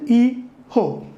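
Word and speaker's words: hijo: pronounced as eco and J is pronounced as H so it is e ho hee ha daughter so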